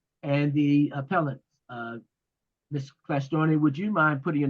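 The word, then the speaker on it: Klyashtorny: of course chairman uh my name is clar storney k l y a s h t o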